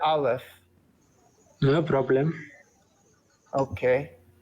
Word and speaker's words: aleph: first letter of the Hebrew alphabet is the Olive uh can you can we pronounce the letter aleph Olive I Live Well